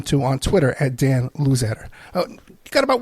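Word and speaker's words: Luzadder: It's a shame at the end we got this audio problems here, but we've been talking to Dan Luzetter.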